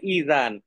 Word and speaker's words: ইজান: ঠিক আছে, যেমন বিয়ের সময় আমরা অনেক সময় বাংলাদেশে বলে যে এজিন নিয়ে আসেন, কনের এজিন নিয়ে আসেন, তো এজিন না, আসলে শব্দ হচ্ছে ইজান।